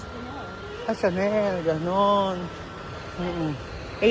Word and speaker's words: Chanel: Yung Chanel paano i-pronounce? Chanel.